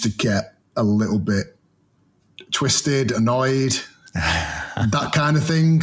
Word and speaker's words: Twi$tz: Is it Twist or Twist?